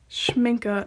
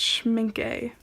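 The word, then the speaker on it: Schmincke: way for the record it's pronounced Minka not Schmidt gay and it's Copic not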